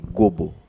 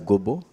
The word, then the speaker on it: Gobo: Je vais corriger ce que vous dites, c'est Gobo, c'est pas Gombo. Ah, ok, ouais. La prononciation des noms n'est pas... Ngombo, c'est mon vieux Jean-Pierre Bemba Gombo. Oui, ok, Gombo, voilà. Oui, moi, il faut enlever le M au milieu. Moi, c'est Gobo.